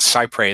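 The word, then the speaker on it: cy-près: through now the this the doctrine called sigh pray and that's spelled c y PR es and it comes from a that's that's kind of a Anglicization of a of a french part of a French phrase that means as close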